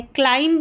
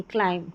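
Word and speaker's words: climb: अब यहां पर थंब नहीं पढ़ेंगे। थंब कॉम कॉम्ब नहीं कॉम म पर ही हम साइलेंट हो जाएंगे। बी का उच्चारण नहीं करेंगे। ये लैंब नहीं है। लैंप लैंप बॉम्ब नहीं बॉम्ब यह है क्लाइंब नहीं क्लाइम क्लाइम। तो सभी में बी साइलेंट है।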